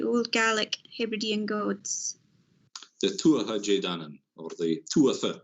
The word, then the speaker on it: Tuatha Dé Danann: The Tuatha Dé Danann, or the Tuatha, they would have pronounced the TH at the time. Tuatha Dé Danann. Tuatha, a new word, DE, a new word, DANANN.